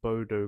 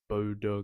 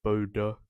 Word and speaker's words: Bodø: It's not Bodo Glimt. It's Bodo Glimt. Actually, that O with the line through it, it's an sound. So it's Bodo Glimt.